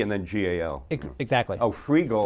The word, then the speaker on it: Freegal: But I mean, it is spelled that way, right? Yeah. Free and then G-A-L. Exactly. Oh, Freegal. Freegal.